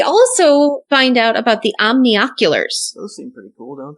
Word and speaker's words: omnioculars: My brain always skips the N-I syllable and just calls them omnoculars, but whatever.